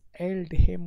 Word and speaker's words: Aldhelm: pronunciation check kay no Aldhelm worth da L pa ki silent hum sa khalak wai